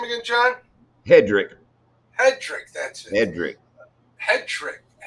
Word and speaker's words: Hedrick: Hedrick.